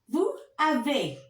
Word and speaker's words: vous avez: Don't pronounce. Tu as. Il a, elle a. Nous avons. Vous avez.